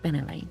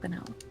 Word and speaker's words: Benelay: It's pronounced Benelay, not Benelay.